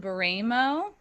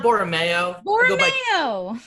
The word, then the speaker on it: Boreamayo: new york uh baramo hey everybody how are you chris are you pronouncing your last name right it's boromio all right no worries like the like the condiment perfect uh and my